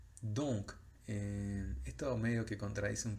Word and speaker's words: donc: Don. Don sería si respetamos la regla, pero no, en este caso es donc. Donc. Si lo decimos en símbolos fonéticos es D o nasal y el sonido K, que se escribe como una K.